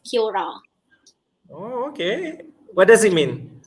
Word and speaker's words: kia ora: would be kira yeah it's spelled kia ora but we pronounce it as kyora okay what does it